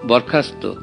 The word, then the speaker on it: বরখাস্ত: ত, থ, ন, র, ল, এই সব বর্ণ দন্ত বা দন্তমূলীয় বর্ণের সঙ্গে স যখন সংযুক্ত অবস্থায় উচ্চারিত হয় তখন তার উচ্চারণ হয়ে যায় রীতিমতো ছয়ের মতো।